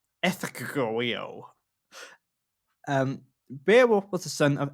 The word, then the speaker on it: Ecgtheow: Right, before I say it, it's spelled ECGTHEOW. Ethegeo.